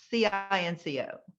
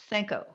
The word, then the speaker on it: cinco: loved it but when you say the word c-i-n-c-o cinco not senko oh thank you sanc is the french pronunciation for the number five oh how embarrassing